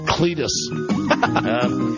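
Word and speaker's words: Clettes: do you spell it c l e TT esett lettuce lettuce like lettuce with a would think you know down and two below cles ant Cletus anyway we'll just call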